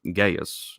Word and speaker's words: Gaius: he writes to uh Gaius um or Gaia is how we pronounce the name on that matter the